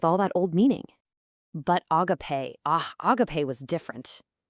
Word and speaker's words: agápē: You pronounce it agápē.